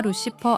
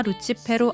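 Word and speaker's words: Lucifero: 영어권 통용 발음인 다이아나 루시퍼 아라디아를 라틴, 이탈리아어 원어에 가까운 발음인 디아나 루치페로 아라디아로 명명합니다.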